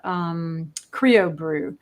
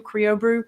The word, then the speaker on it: CrioBru: And there's another one called Creo Brew. And it's brew is spelled BRU, CRIOBRU, Creo Brew.